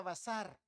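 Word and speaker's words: בשר: carne carne carne carne carne en hebreo carne quiere decir verá y se pronuncia bazar vamos al Bazar Ya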